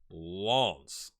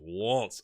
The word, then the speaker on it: Lens: So it's Lens, or something like that. It's like you say the S, but not so much the N.